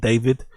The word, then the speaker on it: D4vd: So that's the kid called David. His name is spelled like that though.